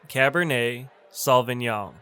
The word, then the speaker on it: cabernet sauvignon: i'll take a bottle of cabernet sauvignon it's pronounced cabernet sauvignon next we have pinot noir pinot noir hey